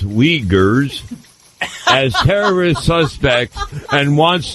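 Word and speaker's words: Uighurs: legal limble ever since China regrets the ERS pronounced weers as terrorist suspects and wants them return South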